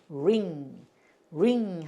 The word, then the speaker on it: ring: 그러니까 링 하고 읽냐? 그게 아니고 R이 있으니까 르 이렇게 하려면 이게 요렇게 소리가 들려요. 그래서 ring 하셔야 돼.